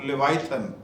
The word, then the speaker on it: Leviathan: इसे कहते हैं spirit of लेवाइथन, spirit of लेवाइथन। अब आप आगे ये सोच रहे होंगे कि ये स्पिरिट ऑफ लेवाइथन ये कहाँ पे है बाइबल में।